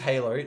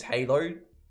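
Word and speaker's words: Hailoh: His name is Halo. This is how you spell it.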